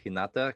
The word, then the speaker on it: Hinata: Just for the record, actually, I don't even know if the only one I know I'm saying correctly is Hinata, because some fan like commented in 4 videos in a row.